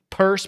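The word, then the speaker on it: Peirce: even saw Hester Pi purse Pierce however pronounced I've heard it both ways legitimately that time I actually heard I thought I think it was a recording of her saying Hester purse but everyone calls her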